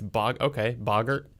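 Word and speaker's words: Boggart: It might be pronounced Bogart. No, well, yeah, maybe. I think Boggle. because I never read that far in the books. Yeah, it's Bogart.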